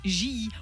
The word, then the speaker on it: Gilly: chez nous en suisserande à J oui j et c'est comme ça que ça se prononce d'ailleurs le village qui